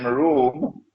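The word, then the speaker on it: روم: an alliance with room is spelled it is pronounced like R room but the Arabic word room is uh it describes Eastern Christian Christianity when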